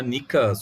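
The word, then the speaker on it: Νίκα: E eles começaram a gritar pelas ruas: Nika, Nika, Nika, tipo Nike, né? Em grego seria Nika, a pronúncia significa vitória, né?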